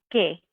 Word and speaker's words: que: Then for what, we have the word que. Que. You can hear how that U in the middle, we don't hear it when we pronounce it, really. It's just one sound, que.